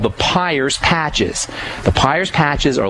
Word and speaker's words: Peyer's: a point in the small intestine called the Peyer's patches.